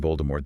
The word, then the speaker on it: Voldemort: Then we had the auditory revision, the W tov in Grindleald, the silent T in Voldemort, the no E in